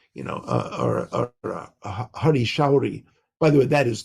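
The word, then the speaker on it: Hari Sauri: shruti kirti or you know uh or a hari showri by the way that is the proper pronunciation pronunciation of his name there's no such thing as hari sorry so i'm sorry about that but it's hari showery it's showery so beautiful name so you know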